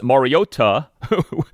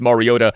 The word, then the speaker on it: Mariota: We on NBC's telecast of the game heard play-by-play announcer Mike Trico and analyst Chris Collinssworth consistently say Marcus Mariota with the T pronounced like a T.